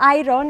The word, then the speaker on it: iron: You're that 1% in Spain who knows that iron is pronounced iron.